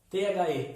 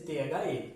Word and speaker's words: the: A pronúncia, pessoal, quando a próxima palavra tiver um som de consoante, né? Eu vou falar the, língua no dente, ó, the.